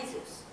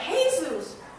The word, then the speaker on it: Jesus: It's Manolo and Jesus. Manolo and Jesus? Yeah, you don't pronounce the J.